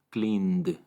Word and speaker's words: cleaned: Esto significa que la terminación ed se pronuncia como d. Cleaned, cleaned.